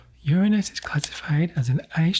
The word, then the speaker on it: Uranus: Your anus, it's pronounced Uranus.